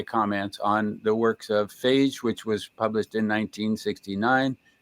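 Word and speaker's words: Fage: the early analyses of Phage. That's how you pronounce his last name, Yeah, right?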